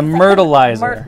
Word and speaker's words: Myrtleizer: The Myrtleizer. Myrtleizer. Myrtleizer. And it is like... Rhymes with turtleizer.